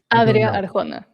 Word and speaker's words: Adria Arjona: Deadline which maintains that Adrien, how do we pronounce this? Jonas Christian, do you guys know Adria Arona? Is that right? Arjona. Adria Arjona.